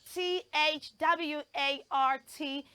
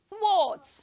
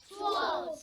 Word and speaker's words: thwart: no it is not t h w a r t is pronounced thr th not th it has the voiceless th sound and the o sound and ends with a T sound so children say after